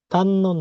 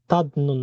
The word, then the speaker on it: 닿는: তারপর হচ্ছে তান্নুন না, এটার উচ্চারণ হবে তান্নুন, তাদনুন না, এটা হচ্ছে দিগতের উচ্চারণ নিয়নের মতো হবে।